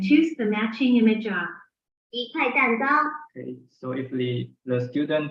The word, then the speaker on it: 一块蛋糕: We pronounce it as 一块蛋糕.